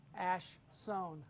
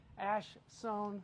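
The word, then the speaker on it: Ash Soan: I'm going to see Ash Sohn. I said it right that time. Ash Sohn, who's a drummer for Snow Patrol, who's doing a clinic there tomorrow afternoon at 1 o'clock.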